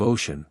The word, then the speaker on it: ocean: Make 3 syllables of ocean, and make it rhyme with began.